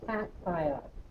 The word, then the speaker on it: cation: positive cats are positive this is called a cat ion modification a cat ion is how you say it caps are positive so